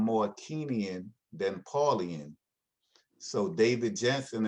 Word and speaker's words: Kingian: So in the Kenyan nonviolence, and by Kenyan, and that's spelled Kingian, uh, David Jensen and Bernard Lafayette gave it that name, Kenyan, from a book, one of Dr.